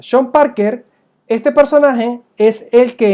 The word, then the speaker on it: Sean Parker: O creo que es sean Parker se pronuncia Shan Parker este personaje es el